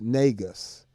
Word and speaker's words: Negus: And if you want to follow me on social media, at the Bass Negus, Negus, and that is pronounced Negus.